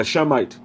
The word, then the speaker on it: Semite: All right, the way that you would pronounce it would be a Shemite.